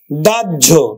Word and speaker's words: দাহ্য: তারপরে দেখো হয় জফলা, এই যে হয়ের সাথে যদি জফলা থাকে তাহলে কিন্তু জজের মতো উচ্চারিত হয়। হয়ের সাথে যদি জফলা থাকে তাহলে কিন্তু হয়ের মতো উচ্চারিত হয়। আমরা উচ্চারণ করবো কিন্তু দাজ ঝো, আমরা উচ্চারণ করবো কিন্তু দাহ্য, দাহ্য।